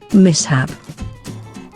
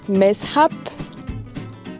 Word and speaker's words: mishap: And here's how it should be pronounced. Mishap. Then there's mishap.